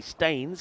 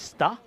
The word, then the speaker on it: Stains: So I know that the most uh English amongst us will say that's AC stains cuz it's spelled like stains, but I've been told it's star. So it's like star but without the R.